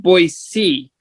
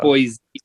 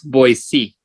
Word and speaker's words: Boise: idaho no it see it's pronounced boy c everybody else calls it boys but if you're local it's boy c kind of like here